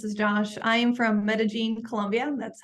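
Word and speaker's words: Medellín: Diana and this is Josh I am from Medellin Colombia that's how you pronounce it thank you and yeah so like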